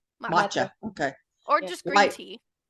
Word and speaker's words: matcha: the M machka how do you say that matcha matcha okay or just green tea matcha white chocolate